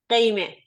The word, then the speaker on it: Gheimeh: Gheimeh. Gheimeh? Yes. It's very good. Yeah, actually, it was a very good pronunciation.